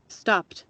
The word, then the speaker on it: stopped: Pero la pronunciación va a ser como una T. Miren, después de la P, miren que el sonido es de T, escuchen. Stopped.